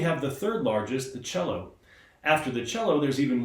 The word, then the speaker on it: cello: back again to tell you a little bit more about the cello.